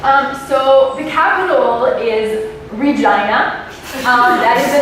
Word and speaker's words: Regina: animal and stuff um so the capital is Regina um that is the name of the capital of the scin it was supposed to be called Regina after the queen and someone along the lines